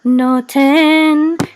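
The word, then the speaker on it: נֹתֵן: This is a tav with a tzere and a nun sofit, which says 10. No 10. And no 10.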